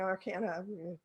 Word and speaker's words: Arcana: the Minor I canyon you can pronounce it Arcana Arcana doesn't matter the Major Arcana are